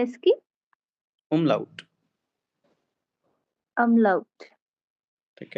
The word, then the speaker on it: Umlaut: सर क्या pronunciation है इसकी? umlaut, अमलाउट।